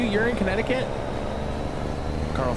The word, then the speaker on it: Connecticut: When I was a kid, I pronounced it Connect-to-kit. When I was like a toddler, obviously. Nice. How's the weather out in Connecticut?